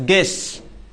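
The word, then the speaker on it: guess: जी यू ई S double S गेस। क्या कहते हैं? गेस।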